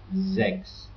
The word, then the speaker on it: sechs: The hard sound is like when it's at the beginning of a word, it's like in sechs, so 6.